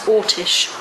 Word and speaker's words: Orsic: A lot of people spell it Orsic, O-R-S-I-C. I don't believe it was that. I believe it was Ortish.